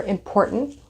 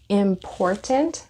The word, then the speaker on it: important: is to me, or important. Remember I talked about this. You can say important, or you can say important, or you can say important. So sometimes we do not pronounce the T here.